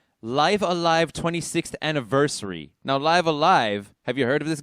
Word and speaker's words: Live A Live: to be pronounced but if you use the japanese pronunciation they meant for it to be pronounced live alive uh not not live alive or liver live but anyway um this